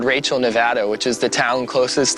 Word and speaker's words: Nevada: We learned the correct way to say it's Nevada, not Nevada.